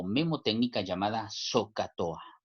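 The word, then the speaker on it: SOH CAH TOA: técnica llamada soca tohá yo quiero que se aprendan esta palabra así como se pronuncia recordemos acá que la h pues no se pronuncia verdad la palabra se traduce así zocato a se pronuncia de esa manera y porque es importante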